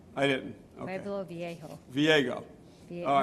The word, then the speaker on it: Viejo: Viego. Viejo. All right. Close. It's 158 like me trying to pronounce With the Bob's J- last The J name. is pronounced with an H, so it's Viejo.